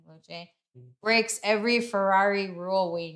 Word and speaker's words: Luce: then I will say the Ferrari one says the polarizing Ferrari Luce I think it's pronounced Luce.